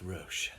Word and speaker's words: Roche: Just for the record, it's pronounced Roche.